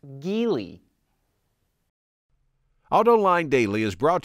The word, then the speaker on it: Geely: is owned by chinese automaker jili or which we recently found out is pronounced geely auto line daily is